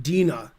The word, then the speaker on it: Dina: Can you say Dina's name out loud slowly so I can learn how to pronounce it? Dina.